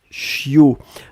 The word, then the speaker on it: chiot: c'est ce qu'on appelle un chiot on écrit ça ch io t on ne prononce pas le thé finale je